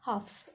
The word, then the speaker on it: halves: Halves, H-A-L-V-E-S. V is halves. So here L is silent, okay, and half means which is not complete part, half part.